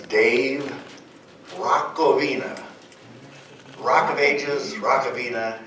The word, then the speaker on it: Hrachovina: rovina Rock of Ages Rock ofina and you've got it so that's how my last name is pronounced and I'm so glad